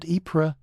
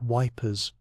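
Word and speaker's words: Ypres: At Epra, that unfortunate city whose name British soldiers could never quite pronounce. They called it Wipers.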